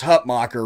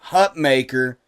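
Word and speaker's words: Hutmacher: Hut mocker I swear to God it is pronounced Hut mocker right I know everybody say Hut maker but I swear to God when I heard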